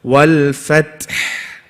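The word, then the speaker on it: والفتح: So you have to emphasize. Watch. Wal fath, wal fath. Huh? Did you hear that, yeah? Wal fath. Both of them.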